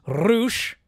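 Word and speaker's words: Rush: it right isi versus Rouch where you do roll your RS you should Mark Brisco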